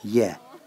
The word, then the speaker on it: 也: Also is pronounced ye.